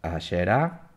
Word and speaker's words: Asherah: entrada 842 dice que es Asherah, que se pronuncia Asherah, y que significa feliz.